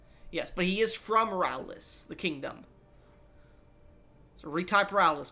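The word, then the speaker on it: Raoulis: Rowlis.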